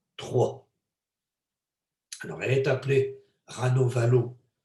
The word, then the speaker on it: Ranavalona: lors des étapes les rats nova l'eau en france et en français parce que semble-t-il on ne prononce pas la dernière syllabe donc ça s'écrit ranavalona